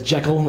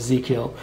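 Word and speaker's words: ZI:KILL: title for the band is supposed to be pronounced as Jackal as in like Jackal and high but this print PR as zekiel I was first introduced to them from watching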